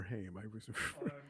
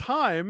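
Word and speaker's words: Haim: is it Heim or ham it's Heim and that's h-a-i-m so I am because I've heard them pronounce it is like saying hi um hi I'm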